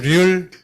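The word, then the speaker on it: 率: 이 솔도 참조로 솔 또는 률 두 가지 있죠. 그래서 비율 할 때는 률, 공률, 뭐 공면률, 뭐 비율 할 때는 률로 발음되고 동사로서는 통솔하다 할 때는 솔선수범하다 할 때는 솔.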